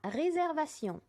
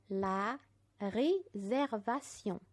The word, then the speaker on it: réservation: La réservation. الحجز. la réservation. شوفوا بنطقها ازاي.